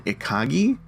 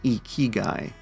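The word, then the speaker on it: ikigai: me for a while my brain wants to pronounce this one iagi but apparently it's pronounced e keyy which is a Japanese concept that combines sort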